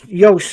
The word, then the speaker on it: Jos: an English Jo no Yos is how you pronounce it is it Yos Yos